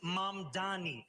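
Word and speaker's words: Mamdani: And furthermore, the name is Mom Dani. M A M D A N I. You should learn how to say it.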